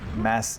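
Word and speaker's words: Mads: Same Mass, it's spelled M-A-D-S, but for me M-A-D-S is a Danish name and the D is kind of mute.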